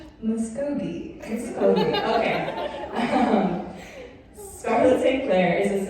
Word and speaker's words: Muscogee: Muskogee.